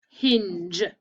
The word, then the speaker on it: hinge: looks funny doesn't it that's because it sounds like a j but it's not a j it's a soft g with an e after it to make it soft so it should look